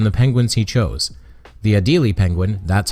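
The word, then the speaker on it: Adélie: The Adelie penguin, that's how you pronounce that French word, Hans, is one of those odd-looking animals due to its color pattern.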